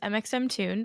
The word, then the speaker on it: mxmtoon: my name is Maya my artist name is mxm tuned which might be the first time a lot of people even if you do know of me are learning how to say it for the first time so that's how you say it um my pronouns are